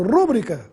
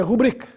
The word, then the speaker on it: rubrica: a essa última palavra tome cuidado com a sua pronúncia pois já ouvi muita gente falando rúbrica por aí a palavra é rubrica tem a sílaba i na sílaba bri portanto é uma paroxítona e sem acento gráfico Também nada de p